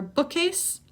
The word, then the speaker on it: bookcase: And finally for bookcase, bookcase. K and C make the same sound here. So you're not going to say bookcase, bookcase, not 2 K's, just 1.